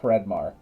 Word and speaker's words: Hreidmar: You did pronounce the last name. It's, yeah, Fredmar.